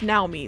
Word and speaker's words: Naomi: The game calls her Naomi. Like, everyone calls her Naomi, but listen, she's Japanese, so her name is pronounced Naomi.